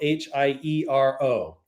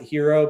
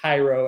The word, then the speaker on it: Hiero: And you can go to uh our website, the Hiero and it's spelled h i e r o. And uh sometimes people pronounce it hero, but it's actually Hiero as in hieroglyphic.